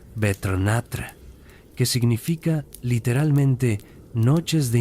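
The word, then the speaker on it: Vetrnætr: Los pueblos nórdicos entre los años 700 y 11 después de Cristo celebrabannatra, pronunciado betrnatra, que significa literalmente noches de invierno.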